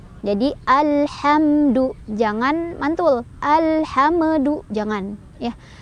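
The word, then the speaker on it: الحمد: Cara bacanya, mimnya dibaca jelas. Dibaca jelas yang dimaksud adalah mimnya dibaca sesuai dengan makhraj atau tempat keluar dari mim tersebut, yaitu 2 bibir ya. Jadi alhamdu, jangan mantul.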